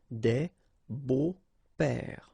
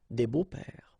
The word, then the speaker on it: des beaux-pères: Des beaux-pères. Okay, remember the s, but then it's silent. Des beaux-pères.